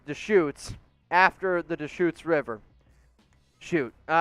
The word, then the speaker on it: Deschutes: help you with the beer you mentioned it's pronounced deschutes after the deschutes river shoot i got it wrong i appreciate that i didn't know how to pronounce it i said i said a few times the shoots the shuts definitely said a few things on